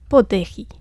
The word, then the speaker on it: 布袋戲: En taïwanais, on le prononce poteri.